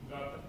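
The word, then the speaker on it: Gautam: Gotham. What? Gotham. Like Batman.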